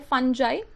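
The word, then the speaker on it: fungi: Kingdom 3 है फंजाई, या कुछ लोग इसे फंगाई प्रोनाउंस करते हैं।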